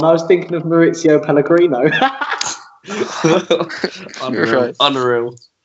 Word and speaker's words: Pellegrino: You called him Mauricio Pellegrini. Pellegrino. Not Pellegrini.